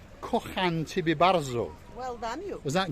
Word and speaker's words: Kocham ciebie bardzo: Kocham ciebie bardzo. Kocham ciebie bardzo.